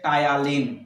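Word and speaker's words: Ptyalin: এবার তুমি বলছো স্যার বানানটা তো টি দিয়ে মানে উচিত ছিল, আরে বাবা নিউমোনিয়া বানানটা কি দিয়ে শুরু হয়, পি দিয়ে শুরু হয়, তো সেরকম এখানে টায়ালিনটাও পি দিয়ে শুরু হয়েছে, পি দিয়ে, ঠিক আছে।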